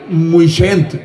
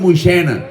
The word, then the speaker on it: Moixent: Els de Moixena, nosaltres diguem Moixent, però ells diuen Moixena. I la T no la pronuncien per res, diuen que baix del pont de Moixena n'hi ha dos feno i uno mirano.